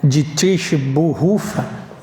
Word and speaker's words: Dietrich Bonhoeffer: Dietric Bonfer, a tradução, a pronúncia, eu não me arrisco aqui a dizer alemã, né? É algo como de trich burrufa, né?